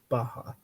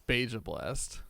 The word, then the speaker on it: Baja Blast: I mean, it's supposed to be pronounced Baja. No. It's Beja Blast.